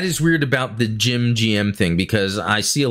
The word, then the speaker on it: GM: i've always gone by referring to the gym as gm instead of gem also chuck keith and